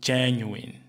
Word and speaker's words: genuine: Ele pronuncia com uma tendência de, como nós diríamos isso em português, que é genuíno. No entanto, em inglês, a palavra é mais na direção de genuine. Genuine.